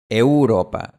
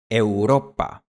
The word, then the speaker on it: Europa: No es Europa y no es Europa, es Europa.